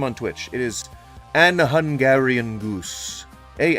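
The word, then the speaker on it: AnHungarianGoose: It is an Hungarian goose. A N Hu N G A R I A N. G O O S E. And the G is pronounced like a normal G.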